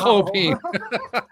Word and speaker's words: Chopin: And like, what do you mean Chopin? So apparently that's the correct pronunciation of his name, Chopin.